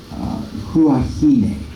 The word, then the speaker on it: Huahine: Huahine is how you pronounce that.